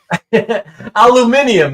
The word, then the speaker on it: aluminium: Aluminium that some people say, right? Aluminium. I mean, the Brits, the Brits say aluminium. It's a very British thing.